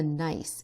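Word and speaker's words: gneiss: This rock is a nice which is spelled G ne I SS.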